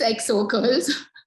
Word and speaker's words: XO Curls: Daniel yes tell me about how do you pronounce it's EXO girls X okay okay so inspired from how we